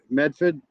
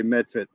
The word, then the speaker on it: Medford: Like Ruckus would say Medford, and I say Medford because it's spelt with a T in Revere, where in Southie it's a little bit more of an R to it.